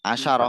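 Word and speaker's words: عشرة: Asyru disukun kalau pakai asyru. Kalau asyarah ada taknya itu di fathah.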